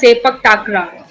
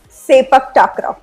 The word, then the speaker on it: Sepak Takraw: so basically we called as Sepak Takra. Sepak Takraw.